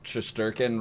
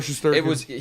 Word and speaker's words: Shesterkin: I mean, Shesterkin, right, is how you pronounce Igor it. Shesterkin.